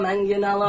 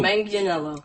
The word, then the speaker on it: Manganiello: menghia no man is off horses na janela manganiello but in the video he's cuz even Stanley's like how do you pronounce it so Manganiello Manganiello so it's stanley joe manganiello sexy Joe